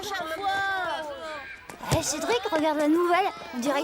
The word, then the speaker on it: Cédric: Moi, Cédric. Répète, Cédric. Cédric. Non, pas Cédric. Cédric. Cédric. Dric. En Chine, ils prononcent pas les R, ils mettent des L à la place.